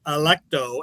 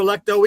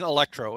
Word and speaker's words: Electo: See, it just sounds to me like you're mispronouncing Electro every single time. Yeah, well, yeah, but it's literally Electro with an A in the front of it, pretty much. Yeah, Electo without without an R.